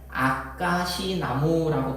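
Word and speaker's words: 아까시나무: 책들은 보면 바로 잡아서 우리나라에 있는이 나무는 아가시 나무라고 발음을 해요 지금은 그게 정확한 명칭입니다이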